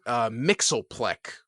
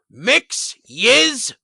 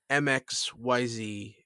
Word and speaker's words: Mxyzptlk: I actually learned because in Super Friends, it was Mxyzptlk was the way they pronounced it, which is wrong.